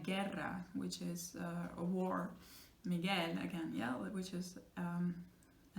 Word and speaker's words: Miguel: Spanish, in that case, like the name Miguel, you never say Miguel, don't pronounce gue, so you have to make it like one sound, ge, alright?